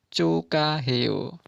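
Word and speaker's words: 축하해요: Cukhaheo, pengucapannya menjadi cukaheo.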